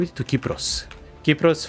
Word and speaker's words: Kypros: Kypros, for those who don't know, is basically Cyprus, but it's how you say it in Greek.